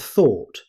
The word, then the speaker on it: though: Native speakers simply say though. Just one syllable.